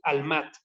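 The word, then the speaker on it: עלמה: La palabra que tenemos aquí que está diciendo virgen es una palabra en hebreo que se escribe almat, como si fuera alma, pero con una H al final, ¿sí?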